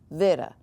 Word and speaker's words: beta: B here's the thing if you look this up you will see beta but it should be understood that this word might be pronounced like Vera it's not quite B now there are exceptions to everything like when we talk about develops but it's still not our English B it has a little